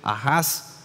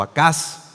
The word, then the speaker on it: Ahaz: Vamos a ver ahí, querido hermano, hoy en esta primera lectura del libro Isaías, a un rey Ahaz, o Acaz, dependiendo cómo lo pronunciemos, un rey del pueblo de Israel que decidió renunciar a Dios.